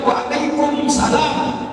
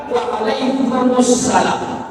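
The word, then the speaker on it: وعليكم السلام: salam asalamualaikum warahmatullahi wabarakatuh kalau dijwab Waalaikumsalam kurang tepat mimnya enggak boleh dimatikan mimnya enggak boleh disununkan Apabila ada mimu mati Apabila ada sukun Huruf mimnya itu di depan di depannya lam alif sysiah enggak mungkin waalaikum Assalam maka diucapkan Waalaikumussalam waalaikumus Asalamualaikum warahmatullah wabarakatuh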